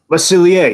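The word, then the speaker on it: Le Cellier: Lacilier, yes. Sorry, I didn't emphasize the pronunciation.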